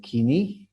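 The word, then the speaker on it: koiné: Vamos a entonces iniciar el griego bíblico, o llamado también el griego kini, como se debe pronunciar correctamente.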